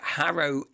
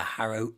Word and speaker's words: Harrow: can assure you the harrow inn uh was there definitely and it's harrowed with a h not an a because you know you inkly people are like don't pronounce ages so the hera see